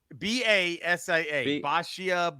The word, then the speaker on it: Basia: That's how he pronounced it. It's Basia. Basia. Baisha. He said Baisha.